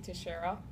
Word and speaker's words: Teixeira: My name is Teixeira. It's actually like the first baseman for the Yankees, Mark Teixeira, so it helps to know how to pronounce it.